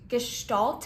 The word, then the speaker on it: Gestalt: are talking about just gestal is technically the way that I think it's best pronounced G gal although I've heard it many different ways from what I hear gestal is the most correct pronunciation so when we are